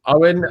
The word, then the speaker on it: Eoin: Owen, I mean, again, a decade-defining moment is getting debutants like yourself on the show.